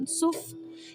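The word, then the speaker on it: Yam Suf: El nombre hebreo de Mar Rojo se pronuncia ysuf, que significa mar de cañas, pero por un error de traducción se le conoce como el Mar Rojo.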